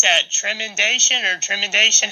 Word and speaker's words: Tremendation: How do you pronounce that? Tremendation or Tremendation? How do you say that? Hello, it's Tremendation.